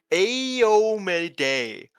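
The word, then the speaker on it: Iomedae: Apparently it's Iomide? Aomid. It's yeah, Aomide is the way that it's supposed to be pronounced.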